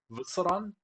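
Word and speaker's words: W'soran: It's like W apostrophe Soran. It's like Vusoran.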